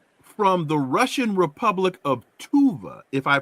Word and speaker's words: Tuva: Korean from somebody from tuva tuva is that's how you pronounce it tuva I think so but that's just the